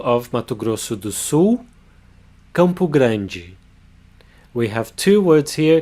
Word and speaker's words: Campo Grande: In the second syllable we have the palatalization of the consonant D, not a hard D sound, but a soft J sound, together with the E, G.